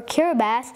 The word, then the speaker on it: Kiribati: Republic of kirati as it is written or kirath as it is pronounced is an island nation in the Central